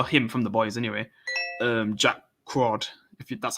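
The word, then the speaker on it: Jack Quaid: Jack Crawd, that's how you say his name.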